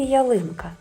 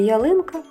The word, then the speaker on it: ялинка: Скільки у слові ялинка приголосних звуків? Чотири. А скільки голосних звуків? Три. Давайте ми поставимо наголос у слові ялинка. Погукайте ялинку. Ялинка. Ялинка. Молодчинки наголос падає на звук и.